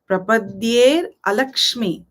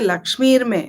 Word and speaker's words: Alakshmi: is the wish there alakshmi there's a SII there you shouldn't say lakmi that would mean you want to destroy lakmi you want to destroy alaki so be careful when you pronounce that here also for